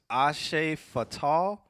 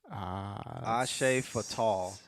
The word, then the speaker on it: Hacefalta: He said it's pronounced Ashe Fatal. Ashe Fatal.